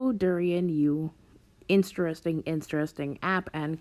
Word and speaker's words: Dorian: at least to me sounds like it would be pronounced the way you pronounce the fruit especially considering the type